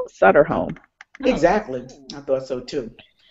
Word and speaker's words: Sutter Home: brand that is definitely supporting a breast cancer pronounced sutter home exactly I thought so too and my t-shirt